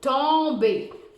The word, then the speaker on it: tomber: Mais là, le son on s'écrit pas O-N, il s'écrit O-M. Pourquoi? Parce que c'est ton et. Et quand le son on se retrouve devant un B, le N se transforme en M.